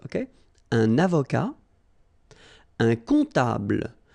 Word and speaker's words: comptable: Un comptable, so OM, remember, it goes like on, all right? And then, strangely, this P is not pronounced.